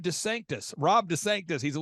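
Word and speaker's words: DeSantis: of he's head of Rhonda sanctimonies I'm sorry I mispronounced it's Rob Des Sanctus Rob Des Sanctus he's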